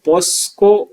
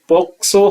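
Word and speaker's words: POCSO: योग्य जो बात है आम तौर पर इसका उच्चारण है वो पोस्को किया जाता है कई लोगों के द्वारा जो गलत है इसका सही उच्चारण पोक्सो है पोक्सो पोसो प्रोटेक्शन ऑफ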